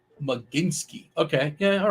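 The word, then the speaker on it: Mlodzinski: All right, so Matt is telling me that's pronounced Maginski.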